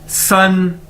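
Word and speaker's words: 四: उसके बाद है जी हमारे पास SI, इसको प्रोनाउंस कैसे करेंगे, कैसे बोलेंगे, स पीछे से थोड़े से दांत खोल के उसको आगे आहिस्ता आहिस्ता फिर बंद कर देना है।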